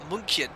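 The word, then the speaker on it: München: It's Munchen. No, don't do this again. It is Munchen. I'm pretty sure it's Munchen. Ch. Gintarish, you need to pronounce the ch like ch.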